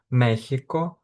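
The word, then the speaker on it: México: В деяких мексиканських назвах або мексиканських словах можна почути як звук х. Наприклад, мехіко, мехікано. Оахака.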